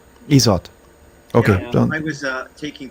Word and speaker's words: IZOD: the one I thought the real the real test that Gary based the name of the band on is pronounced isot okay I was uh